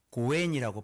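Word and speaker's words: 五円: 그리고 주로 일반적으로는 동전이 선호되는데 고엔이라고 발음을 한대요. 좋은 인연이다.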